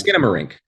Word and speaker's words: Skinamarink: do you pronounce this it's skin don't you remember skin morenco dinky dink skinamarink a do like no it's skinamarink that's it that was